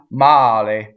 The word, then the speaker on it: male: Male. In this word, we have a single L, right? And the E is closed, again, because it is in the unaccented position. The accent is on A.